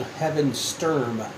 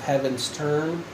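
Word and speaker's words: Heavensturn: xi so for 11 11 years I've been pronouncing at heavens third term instead of heavens turn finally makes sense I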